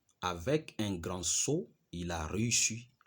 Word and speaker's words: sceau: Le saut qui convient ici, c'est le saut qui s'écrit en S, C, E, A et U.